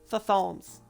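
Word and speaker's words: Thutmose: Wait, no, hold on, I mispronounced that. Was the child of Pharaoh Thothomes.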